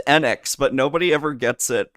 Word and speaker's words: Enix: Of the Erd Tree by From Software, Final Fantasy VII Rebirth from Square Enix, and It's pronounced Enix, but nobody ever gets it right.